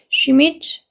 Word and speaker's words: Schmidt: 다시 한 번 더 Mrs. Schmidt 여기 she 발음이기 때문에 Schmidt, my neighbor is a dear friend to me 해가지고 내 이웃 슈밋 부인은 소중한 친구예요 나에게 라고 해요.